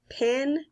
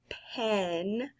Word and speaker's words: pen: And I told you once, here in the South, we would pronounce that like pin, but pin is something sharp that you put into fabric. We need to start saying pen, just like when we